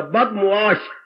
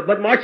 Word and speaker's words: बदमुआश: बदमाश शब्द नहीं होता, बदमुआश। बद मैंने बुरा, मुआश मैंने व्यवहार, जिसका व्यवहार बुरा हो, जिसका आचरण बुरा। बदमाश हम बोलती है पर ये उच्चारण गलत है।